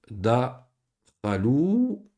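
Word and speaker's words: دخلوا: On avait vu ça la semaine passée, le alif, hein, qu'on met à la fin d'un verbe qu'on ne prononce pas. Alif ou jem, comme par exemple dakhalou. Dakhalou. Ici, lui, on ne le prononce pas.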